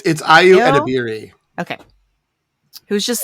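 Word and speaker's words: Ayo Edebiri: And then I've never actually had to pronounce her name. It's Ayu Edebiri.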